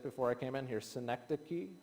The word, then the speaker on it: synecdoche: And it's what scholars would call a I'm going to I'm going to mispronounce it. I practiced it before I came in here. Synecdoche, right?